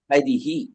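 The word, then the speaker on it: ഹരിഃ: സ്വരത്തിന്റെ ചായയില അകാരമാണെങ്കിൽ ബാലഹ രാമഹ രാമഹ ഇ ആണെങ്കിൽ ഹരിഹി ഗുരു ആണെങ്കിൽ ഗുരുഹു ഔ ആണെങ്കിൽ ഹു എന്നാണ് വരുക ഗൗഹു മനസിലായോ ഗോഹോ അങ്ങനെയാണ് അവിടെ ഉച്ചാരണം വാസ്തവത്തിൽ അതിന് മൂന്നിലും എന്തുണ്ട് വിസർഗം ഉണ്ട് പലപ്പോഴും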